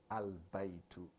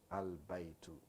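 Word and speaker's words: البيت: So he said the tanween, you're going to drop one of them and pronounce it, use the al to pronounce it. Okay? Now he giving you example, baytun. You see, baytun. Then you say on the other side, al baytu. Baytun, al baytu.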